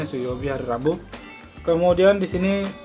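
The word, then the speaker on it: 水曜日: Ini bacanya suyobi, hari Rabu.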